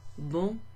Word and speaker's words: bon: So instead of bonjour, bon, pronounced bon, because it's the masculine version of the adjective bon, which means good.